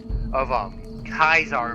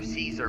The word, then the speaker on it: Caesar: What do you think of Kaisar or Caesar, whichever you prefer to pronounce it, and the Legion in general down